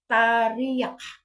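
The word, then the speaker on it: teriak: singgit tarak tarak tarak isulat is t e r i a k ang pronounce an na is tarak Tari Okay sa ang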